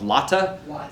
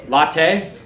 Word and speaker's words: Lotte: I never know how to say it. I've stayed at the hotel once. Latte? Latte? Like a latte?